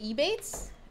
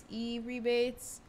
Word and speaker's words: Ebates: Is it Ebates? E-rebates. How do you? they also are identified as Rakuten. Wow. I'm gonna. It's Ebates.